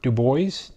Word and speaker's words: DuBois: a hometown fighter from Du Bois it was - Dubois you have a French name why don't you just pronounce it in the French way so he's got a